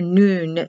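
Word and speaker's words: nun: softbeat m n for noon it's spelled n-u-n but pronounced noon n for error seed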